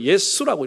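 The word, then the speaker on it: 耶穌: 왜냐하면 중국 사람들이 써놓기를 야소라고 써놓고 읽기는 예수라고 읽었어. 예수라고 읽었어.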